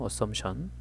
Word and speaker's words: assumption: assumption. 자, 예전에 저 수업하는데 어떤 학생이 assumption을 assuming fission이라고 발음을 해서 뭐 웃은 적이 있었어요.